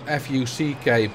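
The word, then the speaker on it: fok: Dutch version of it, which is not F-U-C-K but F-O-K, which is pronounced like fuck.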